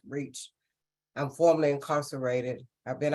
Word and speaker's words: REACH: Foundation we use acronyms r-e-c-h pronounce reach I'm formally incarcerated I've